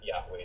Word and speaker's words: Yahweh: Bible in the Bible only the four consonants are mentioned YH wh and Scholars now fill it out to say that Yahweh is the best pronunciation this is true now